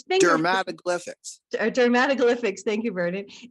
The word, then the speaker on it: dermatoglyphics: He continues new research, particularly within the field of dermatoglyphics. Did I pronounce that right, Vernon? It's dermatoglyphics.